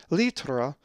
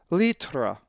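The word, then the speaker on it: λίτρα: If you said litra, you are correct, as the accent is over the iota, litra.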